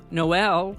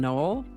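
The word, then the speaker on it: Noël: Over time, we come to know that they're pronounced naive, not knave, Noel rather than Noel, or Bronte, not Bront.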